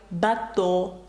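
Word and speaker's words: bateau: як тулуз Тулуза так таке красиве слово як бато бато - це корабель і ви бачите наприкінці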